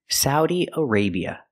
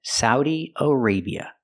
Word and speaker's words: Saudi Arabia: a sa Saudi Arabia the second syllable a use the long a like pay and say aray Arabia again Saudi Arabia the country is called Saudi Arabia let's practice I have